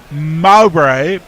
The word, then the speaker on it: Mowbray: and Mark says note mowbray is pronounced Mo as in what you do with grass spray the noise of